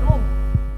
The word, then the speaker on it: Roem: Penulisannya Muhammad Roem. Ejaan lama Roem, bacanya Rum.